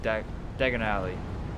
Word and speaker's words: Diagon Alley: one we get to dagger daggery there oh Diagon Alley right that's how you say it right we're